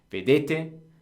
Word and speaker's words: vedete: couple weeks ago uh Loro the accent on the verb basically every tense every verb is always one to the left so vedete the accent moves one